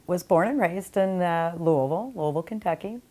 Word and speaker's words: Louisville: I was born and raised in Louisville, Kentucky. Most people don't know how to pronounce that, but that's how you do it when you're from there.